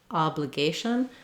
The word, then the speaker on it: obligation: So whereas in obliged, we have an for letter O, in obligation, we have some secondary stress on that syllable.